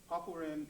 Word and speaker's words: Papuren: Papuren. also pronounced paipuren or even happuren, means 8 steps, or something like 8 consecutive steps.